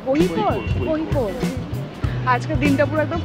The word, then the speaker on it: Kozhikode: কোহিকোডটা একদম ওপরের দিকে, মানে এখান থেকে ব্যাঙ্গালোরটা একটু কাছে, আর ভার্কালাটা একদম নিচের দিকে। ওটা ফ্রিজ ম্যাগনেট নিতে হবে, আই লাভ কোজে করে। প্রোনাউন্সিয়েশনটা কি? কোহিকোড।